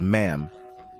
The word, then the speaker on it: ma'am: should do it as ma'am but pronounced with a short a like in Jam as for the traditional